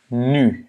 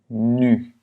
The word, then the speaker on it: nu: U, à la fin du mot, c'est nu. Yeah? Maintenant, nu. Ah oui, c'est comme le nu en français, mais c'est pas nu, c'est nu. En fait, on le prononce de la même manière, parce que le U est vraiment très semblable à l'U en français.